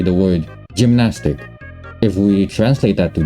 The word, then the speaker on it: Gymnastik: perhaps for most cases it is very uh crucial that we don't use the E uh tone thing but rather an U because like I said gymnastic and for German is gymnastic so or something now